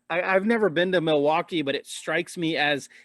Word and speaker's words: Milwaukee: gas stations oh sorry i'm not supposed to pronounce the l according to my wife who lived in the midwest it's not milwaukee milowaque no it's you don't pronounce it like that either unless you oh no here i think it's cultural appropriation you say you say milwaukee noel milwaukee oh wow